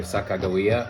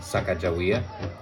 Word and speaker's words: Sacagawea: Now, depending on which tribe it is, it's pronounced either Sacagawea or Sacagawea. Her birth tribe, the Shoshone, would say Sacagawea, and this means boat launcher.